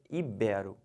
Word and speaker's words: ibero: falar ídolo híbrido tá errado o certo é ibero finalizando essa palavra aqui que o pessoal fala